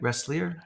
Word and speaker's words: Ressler: Did I pronounce that right? Ressler? It's Ressler, but that's okay.